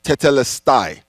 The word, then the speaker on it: tetelestai: as it is finished is a Greek word that is pronounced tetelestai and in English simply